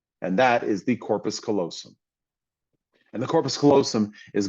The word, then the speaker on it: callosum: They even mispronounced it on there because they said colossum, and it's not. It's callosum.